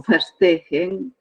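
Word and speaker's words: Verstehen: concepto de comprensión o festejen se pronuncia con efe porque es un concepto alemán incluso miren va a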